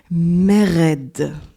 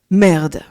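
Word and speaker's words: מרד: se dit en hébreu Mered Mered mais puisque que l'hébreu n'a pas de voyelle mais uniquement des consonnes le mot hébreu vous le voyez pour dire révolte peut tout à fait se prononcer merde ce qui est assez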